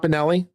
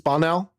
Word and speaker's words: Bonnell: consent is it not Benelli well how do you pronounce his name bonell it's bonell oh it's bonell not there's no there's no I it's bonell okay sorry bonell I